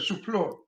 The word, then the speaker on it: Suplee: What is that? English or French? French. I pronounce it Suplee. Suplee. Yeah. Suplee. And the French do a really weird version. I think they say Supplice. So I would say in French it should be Suplee. Suplee.